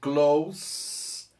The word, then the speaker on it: close: é verbo to close eles são escritos da mesma forma só que a pronúncia quando se trata do perto o s tem som de s mesmo decidida né se e o s do verbo tem som de z ok nós vamos ver